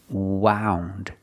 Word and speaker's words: wound: string around her finger now we hear the pronunciation Ow like around about out wound she wound the string